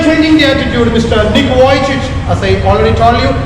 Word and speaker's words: Vujicic: Nick Vujicic, as I already told you, Nick Vujicic.